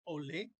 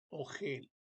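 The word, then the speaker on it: אֹהֶל: marca con este pequeño acento que se llama ole y lo podemos leer. No no se lee ogel, ogel, no se dice ogel, ogel.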